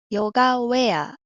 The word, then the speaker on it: ヨガウェア: この青い部分だけ読むとウェです。ウェムで読むとヨガウェア。